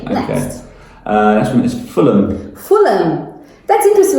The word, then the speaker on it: Fulham: Fulham. That's interesting. We don't pronounce the H.